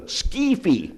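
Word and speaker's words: Скіфи: They say our ancestors were the Skefi. That's how they pronounce it, the Skefi.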